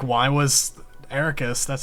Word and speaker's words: Eraqus: Like I'm interested to see like why was Eraqus, that's how you pronounce his name, right? Yeah, Eraqus.